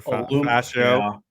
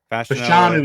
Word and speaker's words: Fashanu: I have tackle from Penn State, Alamuya, whatever, Fascio. Fashanu is how you say the last name.